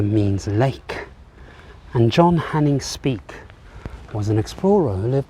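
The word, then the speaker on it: Speke: is in fact the speak Memorial spelled s-p-e-k-e you may have pronounced that incorrectly and speak was a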